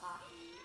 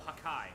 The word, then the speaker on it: Hakai: Oh, Hakai. That's right. Hakai, okay. I'm pretty sure Hakai is spelled like H-A-K-A-I. Hockey is like the thing from One Piece. So I understand the confusion.